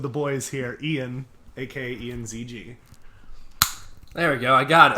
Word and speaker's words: Ianzg: Is it Ianzg, or is there an interesting way to pronounce that? Yeah, it's just Ianzg.